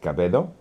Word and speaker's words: Cabedo: And because in my my last name is is Cababedo. Okay. And uh in Spanish. Oh, okay. It's pronounced like Cabo.